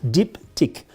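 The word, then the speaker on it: Diptyque: struggling with this one diptych very easy diptych means two things deep tick in France we have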